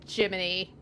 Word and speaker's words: Gemini: Also, they spell Jiminy like Gemini, but they still pronounce it Jiminy.